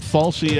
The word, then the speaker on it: Fauci: Falsey, I think, is the correct pronunciation.